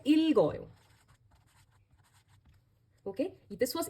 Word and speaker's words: 읽어요: So, it becomes, when you are, now you pronounce it as ilgoyo.